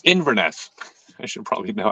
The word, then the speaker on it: Inverness: Park but uh I love the course in Ingress uh ingerness Inverness Inverness I should probably know how to pronounce the name of the town I went